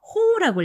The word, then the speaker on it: 方: 쪽이라는 표현은 방향 방자 한자를 써서 호우라고 읽어요.